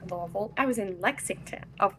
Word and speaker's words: Louisville: And um I was in not Louisville, I was in Lexington of all places. My hometown is Louisville, Kentucky. Is it Louisville or Louisville? Louisville.